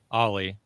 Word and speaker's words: Olli: I'm like how do I pronounce your name Olli and he and and then Wade was like think of Olli pop just without the pop yeah that cemented it